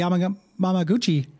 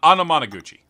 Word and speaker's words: Anamanaguchi: the soundtrack to the beat him up the am Mama Gucci uh soundtrack is good Gary uh real C+ pronunciation there man I'm amuchi uh Anamanaguchi okay what did I say amama m GUI